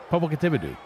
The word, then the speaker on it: Popocatépetl: Popocatépetl.